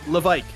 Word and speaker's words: Levesque: But I was told it is not Levesque, it is Levesque. That's how they say it in French Canada, and Jean-Marc Tremblay has